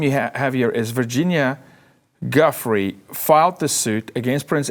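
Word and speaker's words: Giuffre: Roberts Guffrey.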